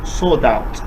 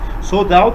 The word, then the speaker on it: sold out: le dire, on dit sold out. Sold out, ça se prononce comme ça, comme s'il n'y avait pas de L.